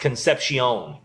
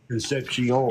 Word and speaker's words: Concepcion: It's pronounced Concepcion. Concepcion.